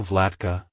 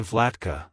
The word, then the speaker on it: Vlatka: great ruler or peaceful ruler it's pronounced as vlatka vlatka vlatka to pronounce it correctly emphasize the vla sound and the C at the end the is pronounced as in cat like Hello vlatka Goodbye vlatka if you found the video helpful hit the